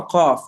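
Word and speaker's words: ق: Qaf is quite a throaty sound.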